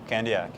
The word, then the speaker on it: Candiac: That's Candiac is how would you pronounce it? Candiac.